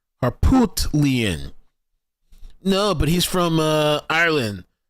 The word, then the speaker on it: Harpootlian: It's not Harpoolton, it's Harpoot. Harpootlian.